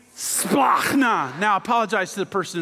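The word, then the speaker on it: σπλάγχνα: How do you say that word? Just give it a try. This is how you say it. Splachna.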